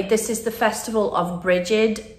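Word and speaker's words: Brigid: is the Festival of bridgid uh sometimes pronounced breed and generally she was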